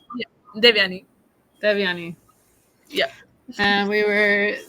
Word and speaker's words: Devyani: Welcome, Devyani. I said it wrong again. Devyani. Yeah. Devyani.